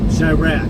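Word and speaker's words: Chiraq: UE I just put I just I just spell it out c h i r a q shyra yeah no no no U no e n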